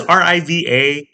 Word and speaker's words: Riva: So we pronounce it Riva. Yeah. But people who want to sound fancy or sophisticated pronounce it Riva on the river, which okay, but we're